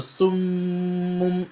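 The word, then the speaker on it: صُمٌّ: So I was pronouncing the Meem, pronouncing one silently and pronouncing the other one with Dhamma. And I was adding Ghunna. So you see the Ghunna is pronounced with your khayshum, right? With your khayshum, with your nasal cavity.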